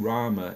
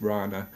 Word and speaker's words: Rana: It's not Rama, it's Rana.